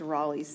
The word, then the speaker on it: Rolle's: That is how it's pronounced, is Rolle's theorem.